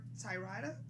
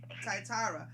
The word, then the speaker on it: Thyatira: Tyrida? How do you say Tyrida. Yeah. Okay. Thyatira.